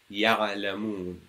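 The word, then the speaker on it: يعلمون: However, when it comes with to ayn, and if the ayn carries a sukoon, the sound is extended a bit. Ya'lamun. Just makes it a bit more flowy and a bit easier to pronounce. Ya'lamun. Because if you put a stop there, it becomes a bit difficult. Ya'lamun. You cannot pronounce the ayn properly. So it is ya'lamun.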